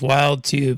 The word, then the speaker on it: Wild 2: I know it says Wild 2, but this is in English, so it's pronounced Wild 2.